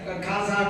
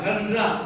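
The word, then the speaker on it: غزة: இருந்தாங்க பிறந்த ஊர் ஹர்ஸா இன்னைக்கு பாலஸ்தீன்ல காசா காசான்னு சொல்லிட்டு இருக்கோம்ல அது ஹர்ஸா அதுதான் சரியான உச்சரிப்பு அங்கதான் அவங்க பிறந்தாங்க ஷாபி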